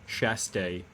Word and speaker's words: Schastye: best of my knowledge pronounced chess day it's a it's russian i'm pretty sure all right let's